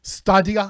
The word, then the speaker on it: Stadia: How do we pronounce Stadia? Is that it? Stadia. Stadia.